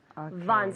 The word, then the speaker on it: Von: the V Von systems Von systems systems one system perfect people I've been practicing Von systems with the v v o n Von it's a quite common last name Richard Vaughn right it's a common